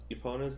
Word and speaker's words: Epona: Epona?